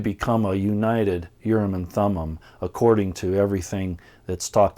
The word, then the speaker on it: Thummim: and Thummim urine room means lights to meme Thummim that's how we pronounce it means perfection so this this was